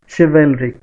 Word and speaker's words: chivalric: Look at the word sound, sound देखिए, श, this is pronounced as श, chivalric, and this is स, so obviously no alliteration is there.